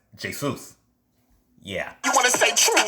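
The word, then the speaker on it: Jesús: they're a Hispanic person, some people would think their name is Jesus, but it's Jesus.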